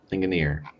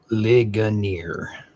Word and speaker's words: Ligonier: Up next got Brimfield, Awaka, and Linggon. I pronounced that correctly. I probably ligonier. Gotcha. I was adding an extra N. There's no N in there.